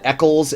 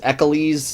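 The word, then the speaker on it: Eccles: pronounce Mod's name mod echles echoles there's a bunch of different YouTube pronunciations out there we're calling her name Eckles mod Eckles is entrusting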